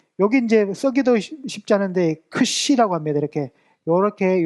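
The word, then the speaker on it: ξ: 이걸 할 때 앞에는 크 발음이라고 뒤로 연결돼서 보음과 함께 시옷 발음 이렇게 나옵니다.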